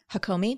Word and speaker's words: Hakomi: the somatic healing so Mind Body Therapies um hakomi did I pronounce that right yes yes talk to us